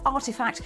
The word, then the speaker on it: RTFKT: bought a company that makes virtual sneakers rtfkt pronounced artifact is an nft studio that alongside footwear builds